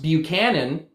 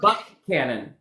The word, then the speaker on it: Buchanan: Um other other counties that we have, there's like uh a county that would look like it'd be pronounced Buchanan, but it's Buck Cannon.